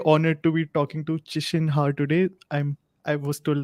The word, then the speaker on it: Qishen Ha: excited and really honored to be talking to chisholm heart today i'm i was told that's the correct pronunciation thanks thanks so much for joining me